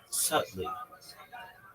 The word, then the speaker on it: subtly: Sub. Right. B is silent.